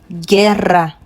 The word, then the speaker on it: guerra: So in this case, the U is not pronounced, but you're going to get the sound G. So now we have guerra, guerra, guilla, guilla.